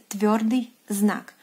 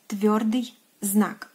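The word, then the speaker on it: твёрдый знак: And in Russian, it is pronounced as tviordyi znak. Tviordyi znak.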